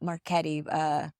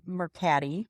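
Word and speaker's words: Mercari: Facebook Marketplace, not Marketti, starts with an M. There's Mercati. Mercati. I don't know if that's how you pronounce it. Well, it's not Marketti.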